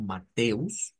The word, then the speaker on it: Mateus: En primer lugar pues Mateo verdad se pronuncia bastante parecido lo vamos a pronunciar como mateus no hay mucho cambio